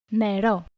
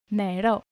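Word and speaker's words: νερό: NeʻРo. NeʻRo. NeʻRo.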